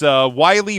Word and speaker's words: Wiley: His name is Wiley Bryant. He said it's pronounced like the coyote.